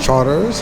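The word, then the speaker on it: Chartres: You will get to learn how to pronounce those words. Like Chapatoulas. And what's another one, babe? Charters.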